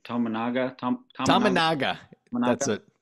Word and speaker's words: Tominaga: We got to get this guy's name pronounced right. Tominaga. Tominaga. Tominaga. That's Tominaga. it. Tominaga. What did I say? Tissanaga?